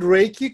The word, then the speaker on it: Reiki: energy same energy flow the word Reiki comes from Ray which is light or ray of light and key which is healing energy he and Chi is the same thing just different pronunciations she would be like Chinese key would be like more Japanese right so in Japan Reiki